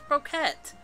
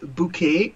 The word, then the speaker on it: bouquet: Alex, this is Luna's Broquette. But where's Luna? Okay, first of all, it is pronounced bouquet, the T is silent.